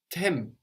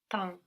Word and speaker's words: temps: But then we have tem, no? If I say it how it's written. But there again we have an M on the end of the syllable. So how would that sound in French? Temps.